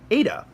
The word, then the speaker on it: eta: Right below zeta, you have an eta. Zeta, eta, theta. Eta. And eta is a long E sound, but it kind of sounds more like a long A sound. A, like that.